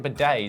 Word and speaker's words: bidet: 1 dunny, 1 bidet. Like a bidet, is that the thing where water squirts up your ass? Am I saying it right? Bidet? Bidet. Like g'day.